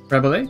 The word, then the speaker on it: Rabelais: Is it Rabelais, is it with a silent S, or Rabelais? I've been doing French lessons in the last little while, and I see that as Rabelais. Rabelais. Rabelais? Perfect.